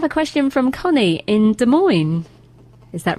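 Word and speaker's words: Des Moines: I have a question from Connie in De Moines.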